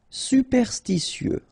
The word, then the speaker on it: superstitieux: Superstitieux. Okay, so final X not pronounced. Superstitieux.